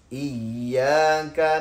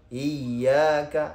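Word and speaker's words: إياك: এখানে আমাদের প্রচলিত যে ভুলগুলো রয়েছে সেগুলো হলো ইয়্যাকা, অনেকে এরকম পড়ে ইয়্যাকা, অথবা ইয়াকা, হামজাটাকে শক্ত করে না, এটা না, বরং হামজা প্রত্যেকটা জায়গায় কোরআনুল কারীমের যত জায়গায় আপনি হামজা পাবেন সব জায়গায় শক্ত করে পড়তে হবে।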